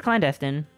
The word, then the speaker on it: clandestine: I thought it was teen. It's clandestine.